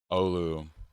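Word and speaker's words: Oulu: Olu. I knew I knew I was pronouncing right.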